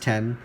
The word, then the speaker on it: iPhone X: getting used to it it's pronounced 10 probably said that a